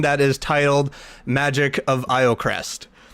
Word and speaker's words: Iocrest: This is our very first ever session in a campaign that is titled Magic of Iocrest. This has been numerously mispronounced by a lot of people of thinking it's Lowcrest, and that's okay, it's funny.